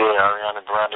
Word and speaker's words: Ariana Grande: You also said you're working with Ariana Grande. Did I say her name right? Yeah, Ariana Grande.